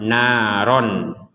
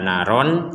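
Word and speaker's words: نارا: maka bacaannya menjadi naro Padahal di sini adalah fathah fathatain kita bacanya naron naron Tapi kalau dalam al-quran kita tidak lagi membaca naron tapi dibaca naro jika kita berhenti Namun kita melanjutkan dengan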